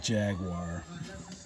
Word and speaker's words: Jaguar: is the jaguar f-type here in america we like to pronounce it jaguar it kind of be